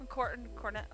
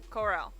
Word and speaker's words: Corll: Cornell. I can't. It's spelled Corll. Give me a minute. Corel. Corell.